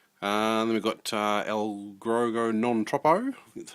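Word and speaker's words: Allegro non troppo: coming out soon and then we've got uh El grego non-tropo that's how you pronounce it uh it's got like a sort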